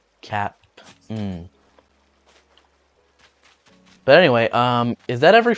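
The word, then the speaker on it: Kapp'n: His name was spelled with a K-A-P-P, little hyphen and then an N. So that spells Cap'n.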